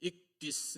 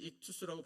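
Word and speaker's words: ἰχθύς: 그런데 그 가운데 있는 이 문자들이 이 신약 성경이 기록된 고대 헬라어로 익디스 내지는 익투스라고 발음하는 것인데 그게 물고기라는 뜻이에요.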